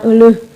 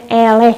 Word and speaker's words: eleh: gajah eleh ku sirep bacanya elek yah bukan elu bacanya eleh karena ada coraknya itu di dongeng ini diceritakan